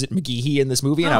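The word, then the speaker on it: McGhehey: uh or actually i've always thought it was mcgahy but he pronounces it mcgehee in this movie and i was like oh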